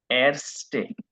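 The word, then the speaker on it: Ärzte: উচ্চারণ হলো এরস্টে।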